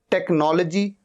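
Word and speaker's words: technology: टेक्नोलॉजी, टेक्नोलॉजी, एच यहां पर silent है।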